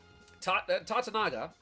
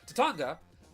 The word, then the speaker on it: Tatanga: Tatanaga, or Tatanga. I'm sorry, I always mispronounce it. Tatanga, the main villain of the game, is an alien who flies around in a little spaceship, right?